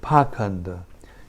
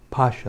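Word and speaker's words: pāṣaṇḍa: the whole situation purport the word paw Conda used in this versus sometimes pronounced Pasha and both of these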